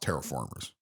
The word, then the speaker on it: Terra Formars: word mars and terraform but it is is pronounced terraformers um probably bad spelling